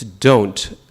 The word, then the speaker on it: don't: English word don't, right, D-O-N apostrophe T, you don't pronounce the O, it's don't.